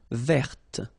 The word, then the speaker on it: verte: Feminine form, verte. So listen carefully. I don't say te, but it's t. Verte. Verte. Okay, so as usual, this final only gives you the possibility to pronounce this t.